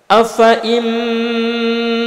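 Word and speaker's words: أفإين: Tertulis fa dibaca panjang. Namun cara membacanya kalimat afa'in itu fa-nya dibaca pendek. Kita contohkan afa'in mata aw qutilan qalabtum. Jadi fa dibaca pendek pada kalimat afa'in.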